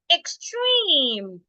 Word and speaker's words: extreme: xand same with this we are not stressing the ex ex here so because of that the E should be sounded as a the sound that we have after the x is T T is a voiceless consonant so because T is a voiceless consonant then the X should sound C extreme the last word